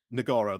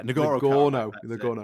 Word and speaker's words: Nagorno: Nagorno, that's it. Yeah, Nagorno.